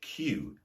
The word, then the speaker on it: cue: wait to be served, which has the same pronunciation as the word cue, C-U-E, which is the long wooden rod you use to play snookers or billiards.